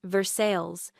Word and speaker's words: Versailles: Greaves was retired now, living in a small town outside Lexington called Versailles, which in Kentucky is pronounced Versailles because Kentuckians do not believe the French should have the final word on anything.